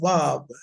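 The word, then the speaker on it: ואו: Okay, listen, I'm going to, it is W. Remember that, it's Wa, Wa. It sounds like a V, but it's Wa, right? So the name is Wav, Wav, Wav.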